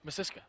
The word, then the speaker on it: Misiska: Is that how you say it? Misiska. Misiska. Yep.